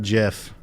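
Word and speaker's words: GIF: we go oh my god no jiff is pronounced jiff when it comes to the file format because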